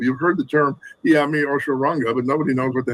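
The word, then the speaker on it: Osoronga: Oshoranga is how it's pronounced.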